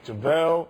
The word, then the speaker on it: JaVale: Say his name right. JaVale.